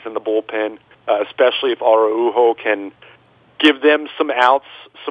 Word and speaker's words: Araujo: By the time he's gone, you're going to be saying Araujo. Right, exactly. It is Araujo.